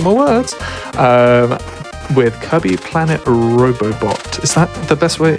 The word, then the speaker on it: Robobot: With Kirby Planet Robobot. Is that the best way? Is that how you pronounce it? Yep. Robobot? That's correct.